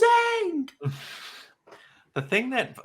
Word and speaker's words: Aang: bothered the hell out of me that they did not pronounce the characters' names correctly, but See, yeah. like Well, Ong, I'm like, whose name is Aang?